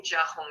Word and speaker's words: Jia Hong: I go by my Chinese name Jia Hong nowadays. Jia Hong. Jia Hong. You almost got it. Thank you. So the Jia rhymes with cat, and the Hong is basically like cat home, essentially. Jia Hong.